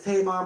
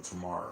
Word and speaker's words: Tamar: Miss Tamar Braxton last week was announced the winner of Celebrity Big Brother. So it was Tamar, right? Tamar. I think I was calling Tamara earlier.